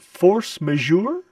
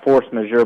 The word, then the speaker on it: force majeure: correctly this is where I've always pronounced it force majeure yeah it's kind of a it's kind of a fun word to say since that if it's you know it's French it's French ah the force